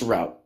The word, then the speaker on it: rout: It's pronounced route.